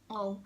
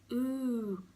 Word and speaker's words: oo: So oh. When I first thought, like you might pronounce it as ooh, but remember, pronounce every single letter.